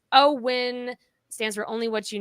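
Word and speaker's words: OWYN: yeah but anyway uh o w y n pronounced o win stands for only what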